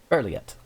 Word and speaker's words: Berliet: It's 34 bulleted items by Melanie Berliet. Yeah, something like that. Berliet. Yeah, that is an I. So Berliet.